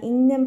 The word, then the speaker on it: 읽는: 읽는 pronunciation, 자, nasalization goes. 그래서 읽는 말해요.